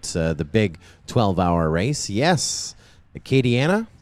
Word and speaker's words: Acadiana: Acadiana? Is that how you say it? Acadiana? Yeah, I knew I said it right. It's Chris Thomas who messes it up. I say it right.